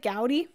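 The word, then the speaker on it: Gaudí: to 350 five oh is it gouty I've been calling him Gody this whole time gouty apos apologies for that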